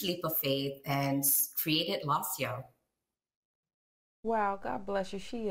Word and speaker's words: Lasio: You are the founder of, and I don't know if I'm pronouncing it right, Lasio, is that right? Yes, absolutely, Lasio.